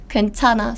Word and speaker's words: 괜찮아: This is here, so it's just pronounced as N sound. 괜찮아.